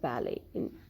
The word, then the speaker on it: ballet: Here also T is not pronounced. Or the words like ballet, where it is in the end.